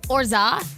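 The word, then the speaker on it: orgeat: Orza. That's how you say it.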